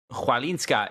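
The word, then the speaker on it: Chwalińska: How do you pronounce her name that made the finals of the French Open? Chwalinska? Yeah. Oh, Chwalinska.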